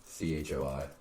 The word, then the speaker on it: Choi: Chui. I don't know. How you say it? How's it spelled? CHOI. Choi. So that makes the most sense.